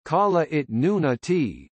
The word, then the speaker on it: Kalaallit Nunaat: Greenland, Greenlandic, Kalalit Nunat, pronounced Kala it Nuna T, Danish, Grønland, pronounced Kane Lane, is an autonomous